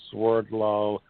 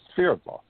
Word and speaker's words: Swerdlow: And the last name, well, the last name is really a Russian name, but in the United States it's pronounced Swerdlow, but in Russia it's Sverdlov.